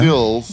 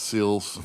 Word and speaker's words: Sills: then Sills. Yeah. I pronounced it right, Steve, not Seals. Seals.